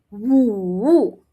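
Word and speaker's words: 五: Five is woo woo Tiger is hoo. Hoo. Same tone here, right? So, it makes it easier, but the sound is different. One starts with a W, the other one starts with a H.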